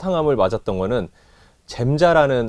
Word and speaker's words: 젬자: 첫 항암을 맞았던 거는 잼자라는 항암이랑 잼자라고 해서 잼시타빈이라고 해요 뭐 겜자라고도 부르기도 하고 다양한 발음은 있는데 그 잼자랑 씨스 플라틴이